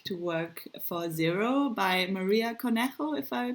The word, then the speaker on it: Maria Cornejo: Now she went back to work for Zero by Maria Conejo, if I pronounced it the right way.